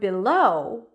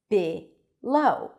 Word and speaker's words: below: And in the word below, we have two vowels. Therefore, we have two syllables. Below or below.